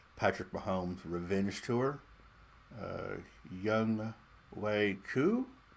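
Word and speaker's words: Younghoe Koo: mahomes revenge tour uh young way coo i think is how you say the name of my kicker i remember the year he came out a couple years ago and i i drafted him everywhere because his name is spelled young ho um and i just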